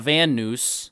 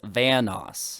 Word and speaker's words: Vanoss: say it right before it's not van noose or von noss it's vanoss it's not i basically